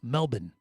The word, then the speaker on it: Melbourne: know Sydney, Queensland, Melbourne, which they say Mel Melbourne is kind of how they say it.